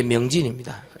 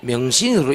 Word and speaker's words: 명진: 명시가 아니고, 예, 명진입니다. 동네에서 명시라 하거든요. 처음에 명신으로 이름을 적어주더니 아이던데, 나 명진인데요, 목사님 그러더라고요.